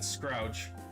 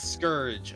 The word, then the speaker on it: Scourge: No, that's Scrouge. That's Scourge, Yeah, asshole. Scrooge. Scrouge? How about you spell it right and I'll say it right?